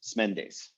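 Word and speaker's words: Smendes: is and the actual pronunciation of that the pronunciation is smendis um so kids as names so often do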